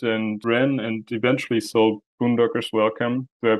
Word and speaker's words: Boondockers Welcome: You founded and ran and eventually sold Boondockers Welcome. Do I pronounce that correctly?